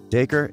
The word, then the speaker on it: Dacre: one user hilariously tweeted is daker montgomery's name pronounced like daiquiri the actor set the record straight saying so dakor is just acre like five acres to the next farm right a unit of measurement acre so the name is